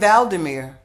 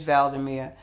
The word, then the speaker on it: Vladimir: it sounds similar but I think that's how you pronounce the president of Ukraine Vladimir so correction they're both their names are sound similar but they're pronounced differently so just a slight difference valdemir and Vladimir okay we'll get that part